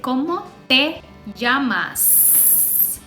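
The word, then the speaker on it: cómo te llamas: use como se Yama you say como te yamas don't forget the S at the end como se Yama is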